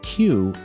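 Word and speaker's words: 九: Having gotten its name from the 93 on its jersey, number 9, pronounced Q in Japanese, Q3's predecessors, Q and Q2, were developed to throw free throws too.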